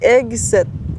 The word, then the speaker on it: Hegseth: J'ai de la misère à prononcer son nom de famille, OK? C'est Hegseth.